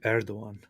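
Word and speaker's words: Erdoğan: connection to how it sounds it's uh reject erdogan see I mean notice if you're transliterating something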